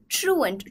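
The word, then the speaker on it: truant: However, in recent times, the rain has been playing ट्रूएंट. ट्रूएंट का क्या मतलब होता है? ये हम लिखते हैं लेकिन प्रोनाउंस करते हैं ट्रू एंट की तरह.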